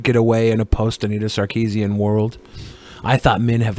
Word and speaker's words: Sarkeesian: You were creeping on Miss Sarkeesian. Is that how you pronounce it?